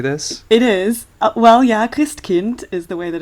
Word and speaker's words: Christkind: it is well yeah Krist Kint is the way that it's pronounced so Kint like Kinder you know Kinder Garden